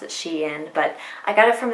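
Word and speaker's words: SHEIN: lot of people say sheen i always say she in because it's short for she inside and so i just pronounced it she in but i got it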